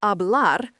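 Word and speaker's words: hablar: The verb abl pronounced abl means to speak.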